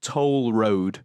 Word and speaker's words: Couture: Randy Randy Couture's name is Toll Road. Toll Road. As in spelled like the road.